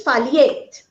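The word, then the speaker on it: phthalate: taking that particular product that pronunciation is foliate so it should be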